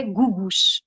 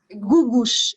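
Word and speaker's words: Googoosh: Gugush, é Googosh. Acho que é assim, Gugush.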